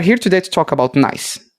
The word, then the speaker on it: NAIS: today to talk about nice spelled n a i s but pronounced nice like nice things a kubernetes based team